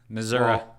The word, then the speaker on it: Missouri: well I'm sorry but I say it like a Midwestern er Missouri I've been to st.